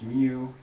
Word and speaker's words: mu: that has longer sides on each side it's pronounced mu just like muma and this is the coefficient